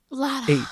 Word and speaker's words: Lottahh: Lottah is the first name. Lotta. H. Lottahh. H. 2 H's. Second H is silent.